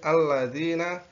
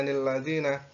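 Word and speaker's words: الَّذِينَ: Kemudian yang selanjutnya adalah seperti contoh ini alladzina. Nanti biasanya pemula itu membacanya lilladzina.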